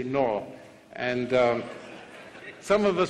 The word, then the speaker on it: Noah: come from Noah now I've been told I don't pronounce Noah properly and that I'm supposed to say Noah is that right Noah all right I'll try and learn but in England we say Noah and um some of